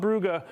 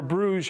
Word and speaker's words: Brugge: This one here, this Juventus Club Brugge, or Bruges, I know everyone uses different pronunciations.